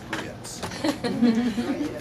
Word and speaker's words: grits: to pronounce the word grits. Grits. Okay, now that was very good. Most of you didn't quite get it because the proper Southern pronunciation of the word grits involves what? It's 2 syllables.